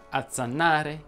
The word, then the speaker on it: azzannare: La Z, e ti faccio notare Z, andrebbe pronunciata sorda quando si trova raddoppiata tra due vocali. Oggi ti dico solo quegli esempi che in genere non vengono pronunciati in maniera corretta. Ed infatti sarebbe corretto dire azzannare, chiazza, corazza, azzeccare, bazzicare, pazzo, gozzo, ruzzolare.